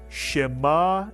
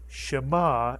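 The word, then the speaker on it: שמע: to pronounce this word shemma is correct which means to hear or listen but it only has one vowel the under the me the under the shin is not pronounced as a vowel and therefore shma is a on syllable word in the Hebrew language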